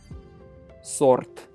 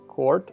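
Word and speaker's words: сорт: Remember never to read s as k. All right. It may be a little tempting at first to read it as court or copt, but it is sort in Russian, which of course means sort.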